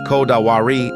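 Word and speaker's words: こだわり: Kotowari, pronounced kodawari, doesn't translate cleanly into English.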